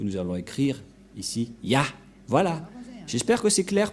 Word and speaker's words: Yah: Et ça se prononce, selon les Juifs, le premier terme que je vais mettre en bas, sa prononciation se lit I et l'autre se lit AH. Je vais expliquer simplement. Et lorsque on va regrouper à la normale, ça se transforme en Ya, que nous allons écrire ici, Ya.